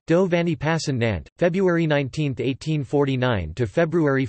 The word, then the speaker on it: Passannante: Giovanni passin on teh Italian pronunciation devaney pass and Aunt February 1918 49 to February 14th 1910 was